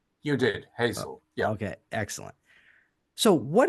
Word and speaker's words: Hazell: what UCL stands for beautiful okay Professor Robert Hazel welcome to the show did I pronounce it correctly you did Hazel yeah okay excellent so what exactly is the